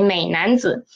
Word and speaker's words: 美男子: 美男子, no, we will read it as a half the tone. 美男子, okay, 美男子.